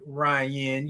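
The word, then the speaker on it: Ria: Ari, but I want to make sure I'm pronouncing your name correctly. Hey, Ryan. Good morning. Hey, Ryan. Spelled R I A. Ryan.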